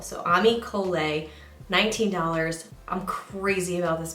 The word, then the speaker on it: Ami Cole: which yes I had a battle and I pronounced it incorrectly or I had a Roundup and I was saying amical so Ami kolei 19 I'm crazy about this mascara I'm wearing